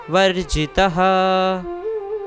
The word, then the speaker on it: वर्जितः: तो यहाँ पे जो त के बाद विसर्ग है उसका उच्चारण हमें पूर्णतः करना है, वर्जितः।